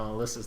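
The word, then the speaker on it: Alisa: No, Alyssa's the... by the way, her name's actually Alyssa, not Eliza. It's just Alyssa but spelled wrong.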